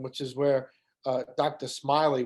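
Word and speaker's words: Smellie: is where uh dr smiley which is the right pronunciation but it's not spelled like that uh is buried in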